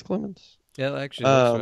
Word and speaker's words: Clemmons: Yeah, it's pronounced Clemmons, I believe. Could be wrong, but I think it's Clemmons. Yeah, actually, that's right. What do I call him? Selmons? Yeah, Selmons. it's C-L, so it's definitely not Sel.